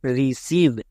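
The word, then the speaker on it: receive: ভি এর জন্য ভো আর শেষে ই এর উচ্চারণ হয় না তাহলে কি হলো রিসিভ ই আই এর জন্য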